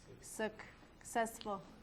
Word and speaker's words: successful: So the two C's, this one sounds k, this one sounds s. Successful.